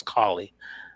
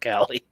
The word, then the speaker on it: Collie: It's Collie. I think John Chapman. He corrected me. He said it's Collie, not Callie.